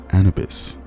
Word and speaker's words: Anubis: Today we talk about Anubis. I thought about Anubis and how that shit rhyme with cannabis.